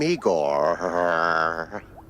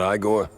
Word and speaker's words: Igor: I'm Igor. Igor, not I gor? No, Igor.